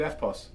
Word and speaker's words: EFTPOS: EFTPOS. But they don't pronounce the T. No, they don't. Right? They're just like, yeah. Do you do FPOS?